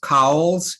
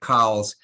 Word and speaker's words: Cowles: Now, I'm embarrassed to say I have heard the name of the company pronounced Cowles and also pronounced Coles. So I'm not 100% sure of the way that it should be pronounced. I know that the family that the originator of this company, Chandler Cowles, came from, pronounced it Cowles. So I think I'll stick with that.